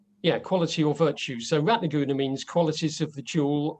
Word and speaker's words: Ratnaguna: call me rat laguna because he's got the word goon in it so it's ratnagunna um short you so